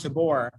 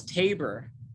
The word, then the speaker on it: Tabor: moving in portland is everyone pronounces things the opposite of the way i would like come here saying to like mount tabor and everyone says no it's tabor old tabor okay okay i'll i'll